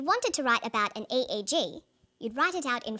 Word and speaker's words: EEG: or an acronym an eeg brain scan helps answer that say the swinburne researchers he says an eeg that's an abbreviation we don't pronounce it egg we say e e g e g stands for